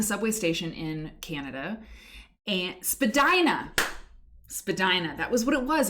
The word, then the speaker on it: Spadina: And Spadina. That was what it was. It wasn't Medina, it was Spadina.